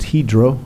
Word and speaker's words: Hydro: for helping incentivize the $80 million expansion of Hydro Aluminum found out it's pronounced hedro aluminum uh from the uh Norwegian uh CEO